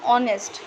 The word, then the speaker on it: honest: her but here in honest it the her it is not pronounced like her but instead it is pronounced as o means there is an